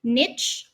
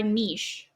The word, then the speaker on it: niche: The correct pronunciation of niche can be either niche or niche.